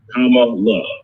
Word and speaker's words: Kamala: make sure you know kamala uh we always want to say her name right so senator kamala harris right i always tell people come on look right that's this man